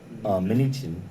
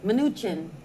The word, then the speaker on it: Mnuchin: Mnuchin. Mnuchin, letting him know that our governor is misinterpreting the law and misinforming the people of Guam.